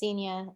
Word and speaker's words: Semien: say your name is it's inian it's Semien like I seen you before okay senior I've got